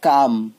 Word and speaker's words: calm: Next হচ্ছে কাম। এলটা উজ্জ্ব থাকে, এল এর উচ্চারণ হয় না, CALM, কাম।